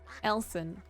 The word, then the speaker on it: Elsan: Elson. Oh, I've been I've been saying Elon. The start of it like Elsa.